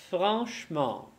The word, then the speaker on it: franchement: commodément, gentiment, brièvement, absolument, franchement. Да, будьте внимательны также к особенности прочтения наречий. Так мы не говорим longuement, мы говорим longuement. И здесь также будет franchement. «Э» не читается и выпадает. Franchement.